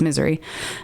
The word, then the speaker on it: Missouri: Like, if you say it right, it's Missouri.